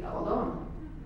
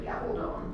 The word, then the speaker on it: Gabaldon: If you were speaking Spanish, it would be Gabaldon, which is why there's a long O in the last syllable. If you're speaking English, it's usually Gabaldon, but there's still a long O in the last syllable. It rhymes with stone. It's the easiest way to remember it.